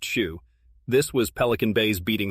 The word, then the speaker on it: SHU: The SHU, security housing unit, a world of total isolation known as the SHU, pronounced SHU.